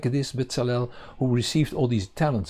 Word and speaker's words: Bezalel: Bezalel, I don't know how you pronounce him, but in Hebrew it's Bezalel, meaning in, Tzal, the